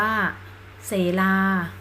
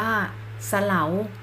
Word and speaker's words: เสลา: กับ 6 5 อาสะเน สอ เสือ รอ ลิง สระ อา อ่าน ว่า เส ลา ผม หมาย ถึง ภู เขา หิน อีก คำนึง อ่าน ว่า สะ เหลา หมาย ถึง สวย งาม